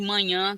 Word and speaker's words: manhã: de manha manha e manhã café da manhã e manha é uma uma coisa difícil tem a nasalidade aí da vogal mas também tem a sílaba tônica né que é uma